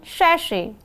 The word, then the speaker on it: sachet: How do we pronounce sachet? Repeat after me. It is called sachet.